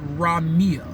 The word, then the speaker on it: Rameer: But it's pronounced Rameer. Rameer as in R-A-W-M-E-E-R. I'm spelling it out phonetically. That's not how you actually spell Rameer's name, but how you pronounce it is how you will actually spell the words raw and then mirror, M-E-E-R. That's how you phonetically pronounce it, Rameer.